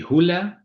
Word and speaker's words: Hulea: The right pronunciation will be Hulea, but it doesn't really matter as long as I know you're referring to me is fine.